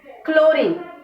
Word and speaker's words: chlorine: See, some side we pronounce ch as ch, and some words we use or pronounce like as k.